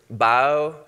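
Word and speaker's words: bayou: watch the game but in the Delta we pronounced the word by you bio and so this name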